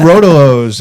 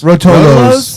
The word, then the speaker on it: Rotolo: Am I saying it wrong? Rotolo. Yeah. Rotolo.